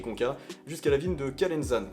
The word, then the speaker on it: Calenzana: jusqu'à la ville de Calenzane, qui s'écrit Calenzana. Mais bon les Corses ils prononcent pas les A à la fin des villes ni des O à la fin des mots, donc voilà, j'essaie de me la jouer à la Corse.